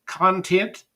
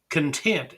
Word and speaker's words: content: is the word content did you just read that content as in which is contained or did you read it as content as being satisfied with what one has